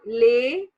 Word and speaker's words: les: So today we will discuss the slide Les Salutations. So you see the heading. This is Les Salutations.